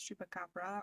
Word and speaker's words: chupacabra: Now, you might hear two different pronunciations. It's chupacabra or chupacabras. Both of them are correct, but the original pronunciation is with the S.